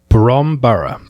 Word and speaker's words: Bromborough: Bromborough. That's how you would pronounce it.